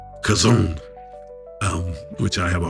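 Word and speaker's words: חזון: evaluate what it means like I said it's pronounced kazone um which I have a hard time doing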